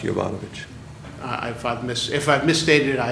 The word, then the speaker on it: Jovanovich: my name is pronounced Jovanovich.